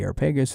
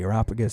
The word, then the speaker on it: Areopagus: where he's talking to the Areopagus or the Areopagus, depending on how you want to pronounce that he makes...